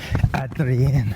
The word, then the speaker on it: Adrien: I always think of Adrian as being a man's name, but the French are more likely to use Adrian, but they pronounce it Adrien.